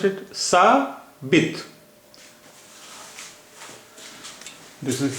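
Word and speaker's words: ثابت: So it will be pronounced as sa bit, beze b or te. Te is without te has no vowel sign, no diacritic, no vowel. So it is pronounced as sa bit.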